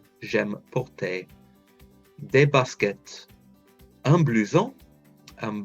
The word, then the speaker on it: porter: Whenever anything ends in ER, it's pronounced like an A sound. J'aime porter.